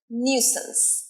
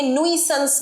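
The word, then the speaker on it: nuisance: আজকের ভিডিওর last word নিউসেন্স এটার মানে সমস্যা তৈরি সমস্যা সৃষ্টিকারী কিছু নিউসেন্স অনেকে নুইসেন্স বলে নুইস বলে নিউসেন্স নিউসেন্স ইংলিশে কি বলবে যদি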